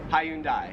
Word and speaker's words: Hyundai: Americans make it like 2 syllables, like Hyundai. Australians 3 syllables, Hyundai.